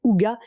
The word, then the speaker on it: hygge: Le hygge, prononcé Uga, est un état de